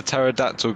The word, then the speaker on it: pterodactyl: can't you hear a pterodactyl go to the toilet what because the p is silent why you [ __